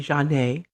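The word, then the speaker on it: Zhané: john a cd okay that's spelled z-h-a-n-e with a stress over the e janae it's an old r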